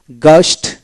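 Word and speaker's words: ghost: জি এইচউ এসটি গ্ এখানে এইচ উচ্চারণ হবে না তারপরে গস্ট লে গাস্টলি তারপরে জি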